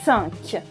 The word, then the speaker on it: cinq: Now let's move to 5, and 5 is cinq. Cinq. As you can hear, it's the same un as in the number 1. Un. Cinq.